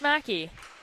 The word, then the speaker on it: McKay: Newfoundland and I'm sorry the name is pronounced Mackie so thank you for